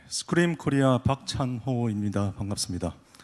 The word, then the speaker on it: SQream: 네, 스크림 코리아 박찬호입니다. 반갑습니다. 이 소개해 주신 분께서 저희 솔루션을 굉장히 잘 발음해 주셔서 정말 감사한데, 맞습니다. 스크림이라고 읽습니다.